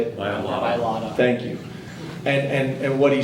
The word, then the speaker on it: Mailata: I don't want to mispronounce his last name. How do you say it? Mailata.